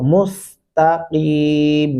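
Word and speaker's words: المستقيم: लगाएंगे जो कि गलती हो जानी है और मुस्तकीम य प पढ़ना है की नहीं करना अगर आप कीम बोलेंगे तो फिर यहां प गलती सर जद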